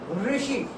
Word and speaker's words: ऋषि: तो इसे आपने कैसे पढ़ना है? ऋषि, ऋषि।